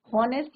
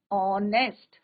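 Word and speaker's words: honest: क्यों लगाया है, क्योंकि यहाँ पे एच is your silent, हॉनेस्ट नहीं होता है, इट इज योर ऑनेस्ट, तो हम यहाँ पे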